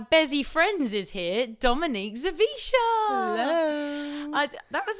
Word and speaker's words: Zawisza: It starts with a Z and it's Zawisza. Zawisza. It's a great name. So it's a Polish name and the W is pronounced as a V. So it's Zawisza.